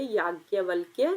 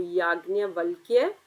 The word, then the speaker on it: याज्ञवल्क्य: अब हम पढ़ेंगे याज्ञवल्क्य स्मृति। नाम सही से प्रोनाउंस करना है सबको। याज्ञवल्क्य स्मृति।